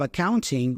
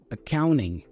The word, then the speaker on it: accounting: Notice that we have the nt combination there. Usually, especially in American English, that t goes away. So, we pronounce the n instead. So instead of accounting we hear accounting.